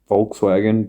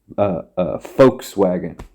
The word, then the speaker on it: Volkswagen: The way to pronounce it is like folk, like Vogue, Volkswagen.